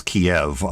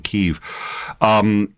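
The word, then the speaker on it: Kyiv: All right, this is Kiev, which I learned Russian, and so I learned it as Kiev. So I'm still trying to pronounce it as the Ukrainian Kiev.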